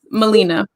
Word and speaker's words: Malena: i'm used to this people pronounce my name and i'm used to it but it's molina and i know that